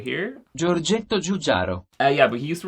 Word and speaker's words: Giorgetto Giugiaro: This was designed by an Italian guy called Giorgetto Giugiaro. I'll put the correct pronunciation of his name right here. Giorgetto Giugiaro.